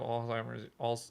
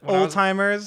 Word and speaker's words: Alzheimer's: Yeah, like you just as you have Alzheimer's. Al- I called it Old timers.